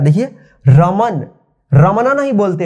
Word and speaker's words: रमन: देखिए रमन को इंग्लिश में कैसे लिखेंगे? देखिए रमन, रमन उच्चारण देखिए, रमन लास्ट में अ की साउंड नहीं आ रहा है, देखिए यहाँ पे रमन,